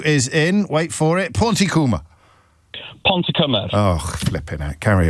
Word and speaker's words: Pontypridd: They did it phonetically for me, and they literally wrote pawn, like the chess piece, t coom with a k, k double o m. Uh So, that's wrong. It's not coom, it's come.